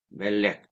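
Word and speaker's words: מֶלֶךְ: 수가 있어요 보케르 세페르 멜렉 요런 꼴을 가지고 있잖아요 그런데이 세 명사의 공통점은 뭐냐면은 액센트가 맨 앞에 있다는 것이죠 왜 그러냐면이 세골 명사는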